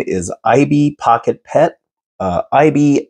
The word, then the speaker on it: Aibi: Aibi, I'm guessing that's the pronunciation of this because Sony makes a robot called Aibo that's spelled very similar, A-I-B-O, but this is A-I-B-I. So I'm calling him Aibi. I hope that's a proper pronunciation.